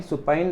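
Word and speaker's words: supine: फिर आपके पास बहुत इंपॉर्टेंट वर्ड है सुपाइन। सुपाइन देखो प्रोनाउंसिएशन ध्यान रखना, सु एंड देन उसके बाद पाइन।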